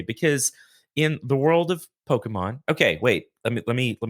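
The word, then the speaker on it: Pokémon: I mean you know it comes from Japanese and that is very much how they say it uh most English speakers just say Pokemon I it sounds goofy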